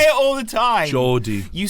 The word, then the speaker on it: Geordie: "Congratulations to the true Gordy." Wait, what? Do you know all Americans pretty much pronounce me name like that but it's G E O G. You say it all the time. Jordi, you say it all the time.